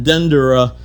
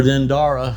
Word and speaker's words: Dendera: Oh, now I'm down underneath the temple of Hathor in Dendera, or Dendera. Dendera, it depends who you're talking with on how they pronounce it.